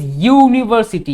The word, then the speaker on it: university: n ah why because university you it is pronounced as y u university not umbrellas remember in